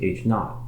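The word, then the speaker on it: H₀: the status quo it's usually labeled h0 pronounced H naught the null hypothesis H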